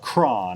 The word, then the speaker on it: Croghan: It's spelled Croghan. And the correct pronunciation is... Well, Croghan. I wouldn't say correct, but that's certainly how William, the man who built the house, pronounced That's how his he name. pronounced his name, was Croghan.